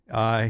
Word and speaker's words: Kroenke: What a run for Stan Kroenke. Is that how you say his name? Yeah, the owner for the Rams? Stan Kroenke.